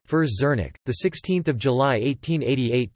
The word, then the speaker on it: Frits Zernike: Frits Zernike, Dutch pronunciation, Frits Zernike, the 16th of July